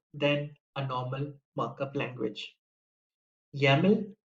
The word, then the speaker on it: YAML: a normal markup language yaml rhymes with the english word camel yaml is a very